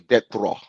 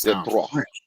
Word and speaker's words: Detroit: going to ask you, what is the proper way of saying deto for Detroit? Detroit. How do you say that? is actually death thraw. There we go. Now that's death draw.